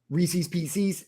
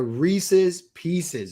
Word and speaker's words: Reese's Pieces: that as a kid Reese's PCS no it's Reese's they are Reese's Pieces it Rhymes they're supposed to run